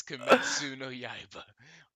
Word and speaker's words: Kimetsu no Yaiba: Because I feel like I might butcher the pronunciation. Oh shit. Hold on. It is Kimetsu. Kimitsuyo no Yaiba. It's Kimetsu no Yaiba, also known as Demon Slayer.